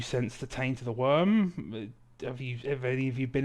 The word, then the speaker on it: wyrm: And it's because it's spelled WYRM. It's not like it's not like the freaking like not the worm out of Dune, but the fucking like a dragon ass.